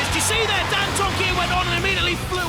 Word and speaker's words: Dantomkia: Now, how do you pronounce it? Dantomkia. Dantomkia.